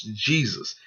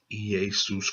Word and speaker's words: Iesous: book of the generations, this does not pronounce Jesus. This is still pronounced Iesous Christ, the son of David, the son of Abraham.